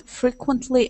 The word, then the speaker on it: frequently: So, accent at the very beginning. Frequently. Okay. Frequently. Good. One more time. Frequently.